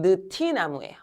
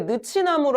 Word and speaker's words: 느티나무: 이거 왜 느나무로 안 발음돼? 이거 왜 느치나무로 안 발음되고 누티나무로만 발음돼? 어, 우리 앞에서 배운 걸로 얘기하면 얘 뭐가 돼야 되는게 맞아? 늦치나무가 돼야 되는게 맞잖아. 근데 왜 느치나무 안 되고 느티나무돼? 왜 이렇게 돼?